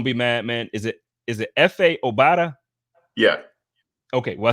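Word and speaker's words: Efe Obada: Is it F.A. Obata? Yeah. Okay, well, I said it right. Cool. So F.A. Obata versus Bam Johnson for that final spot.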